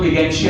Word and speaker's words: gigantea: Largest जो cactus है वो है कार्निजिका, CARNEGIC, कार्निजिका गिगेंटिया, कुछ लोग गिगेंटिया ही प्रोनाउंस करते हैं, GIGANTEA।